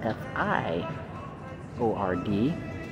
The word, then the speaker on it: fjord: we're in a college Fjord spelled f-j-o-r-d but you pronounce it f i o r d that gentleman just tell